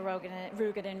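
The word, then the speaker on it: Roegadyn: So that's how you say it, 僕のフレ Rugadin.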